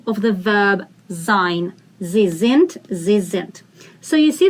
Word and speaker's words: sind: Wir sind. Sind. Die in the end is pronounced as t.